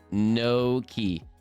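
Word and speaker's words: gnocchi: Ganaki is pronounced no key.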